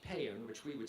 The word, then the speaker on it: pan: The Indo-Uropean root of patior is a word pronounced pan which we would spell p a n which is also the root of the word compassion.